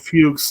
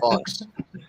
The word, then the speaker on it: Fuchs: Taymor pronounced it Fuchs on the commentary. But it looks like something else, but we're not. Yeah, I was gonna say it looks like I pronounce it Fox.